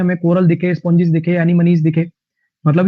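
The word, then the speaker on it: anemone: एनीमनी, इसकी जो प्रोनाउंसिएशन होती है ना वो एनीमोन नहीं है, एनीमनी है इसकी प्रोनाउंसिएशन, एनीमनी। इसकी जो प्रोनाउंसिएशन है वो है एनीमनी।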